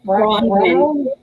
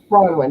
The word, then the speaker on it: Bronwyn: It was Brownwin. Bronwyn, that's it. Bronze, the metal bronze.